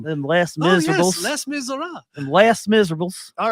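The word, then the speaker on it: Les Misérables: wonder how Landa pronounces it. Yeah, that's a good question. Them less Oh, yes, miserables. Les Miserables.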